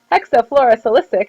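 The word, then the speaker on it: hexafluorosilicic: when you say these you got to break it into parts so it's hexa floro cisic there you go I have to make that a soft C so hexol fluosilicic acid which is H2S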